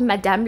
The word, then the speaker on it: Madame: them are immigrants too it's called Madame LaFleur but it's spelled mm like if you read French that's how you abbreviate Madame this is silk and